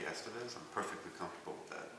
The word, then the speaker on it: Estevez: your last name again it's officially estevez but it sounds a little more pimp to say estevez so if you want to call me j estevez i'm perfectly comfortable with